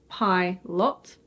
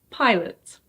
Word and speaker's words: pilot: Did you say "pai-loht"? The O in this word is actually pronounced as a schwa (eh). So this word is pronounced: pilot.